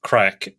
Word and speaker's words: craic: having any crack um so it looks like craic but it's pronounced crack and yes we've had